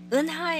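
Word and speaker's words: 은하: Eunha is a difficult sound for you to pronounce because the vowel this vowel, does not exist in English. The way for you to remember is if you were to imagine yourself punched in the stomach, you'd probably utter a sound like That's the sound.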